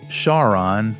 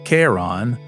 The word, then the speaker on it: Charon: And out at Pluto, Charon, or is it pronounced Karon, is so large relative to Pluto that the two orbit a point in space between them.